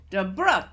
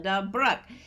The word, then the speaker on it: DeBrook: DeBrook, that's how you say it. DeBrook, like Brooklyn, DeBrook.